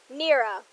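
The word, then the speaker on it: Neira: she says that no gotta remember how to pronounce my name real quick there it is Nera okay n e i r a that's for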